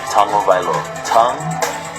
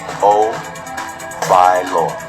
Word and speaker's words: Tagovailoa: Tagovailoa. Tagovailoa.